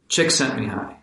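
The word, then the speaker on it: Csikszentmihalyi: famously associated with uh cheeks and me high pronunciation of that formidable last name chick sent me high yeah so yes and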